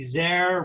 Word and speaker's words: Zaire: sure I said Zaire rhymes with care that was super cool